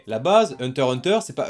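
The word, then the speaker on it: Hunter × Hunter: takiro c'est Space X family e la base Hunter Hunter c'est pas Hunter x Hunter commencez pas à faire en mode oui non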